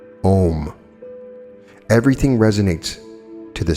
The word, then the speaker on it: Om: spell as ohm it is pronounced like home only without the h it is the closest